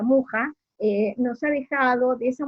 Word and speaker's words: Mucha: Bueno, mucha o muja, en realidad se pronuncia muja, nos ha dejado de esa mujer flor todas estas imágenes y afiches.